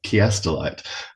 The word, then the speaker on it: Chiastolite: leads into and is incredible with chiastelite or kiastelite as it is supposed to be pronounced.